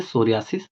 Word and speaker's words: psoriasis: disease रहेंगी स देखिए हमारा इसमें पी जो है ये साइलेंट रहता है इसलिए यहां इसको सोरियास कहते हैं इसलिए हमने इसको हिंदी